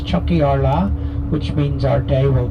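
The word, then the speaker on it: Tiocfaidh ár lá: itself the Kenya that's chat AR La phonetically which means Chucky Arla which means Our Day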